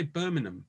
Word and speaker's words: Birmingham: i find i say birmingham i find there's no g in the middle is that correct when i say it yeah that's that's the correct way of saying it the g is silent good um so uh